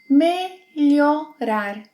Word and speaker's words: Melhorar: Melhorar.